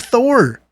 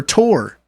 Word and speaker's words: Thor: We have Thor or Tor, depending on pronunciation. I know, like there's literally multiple pronunciations for those 4 letters put together in that language.